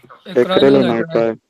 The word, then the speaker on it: acrylonitrile: How to pronounce this one? जी बेटा, Acrylonitrile.